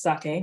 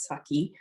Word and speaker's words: sake: um sake which is pronounced sake not saki um and we have